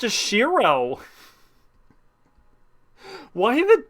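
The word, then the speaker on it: Shirow: the W it wouldn't it would still be pronounced as shirro why the W um okay yeah musir wrote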